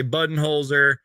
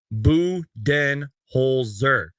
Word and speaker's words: Budenholzer: of us including myself are probably gonna say bud and holer Coach Bud coach buds whatever you want to call him but it on the the actual NBA and Phoenix Suns website it is pronounced buen holer did I say that right did I butcher